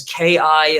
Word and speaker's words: ki: And in Japanese, they write it as KI, and they pronounce it as ki.